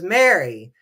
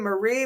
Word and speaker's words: Marie: to smack that guy for pronouncing her name as Mary when the tour guide says her name Marie multiple times who is bankrolling the